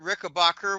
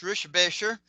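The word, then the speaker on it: Richebächer: Um, I've actually met Kurt Rickbacher, which is actually pronounced Rishbasher.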